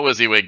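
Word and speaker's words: WYSIWYG: The rule book specifically says this game is not a Wizzywig game.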